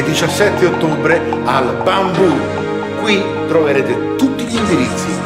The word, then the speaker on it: Bambù: Con l'accento sulla U! Bambù!